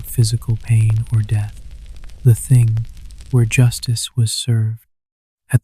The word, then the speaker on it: Thing: The word Thing, pronounced ting, actually means assembly or meeting, and it was a fundamental institution in Norse society.